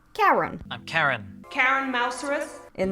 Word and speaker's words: Chiron: One of the characters is named Chiron, but it is pronounced Karen.